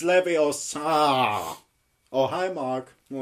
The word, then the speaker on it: Leviosa: your Tsar you got something it's like you pronounce I did not yeah oh it's Leviosa oh hi mark not got any friends it is not Libby Oh sir it's not true it's this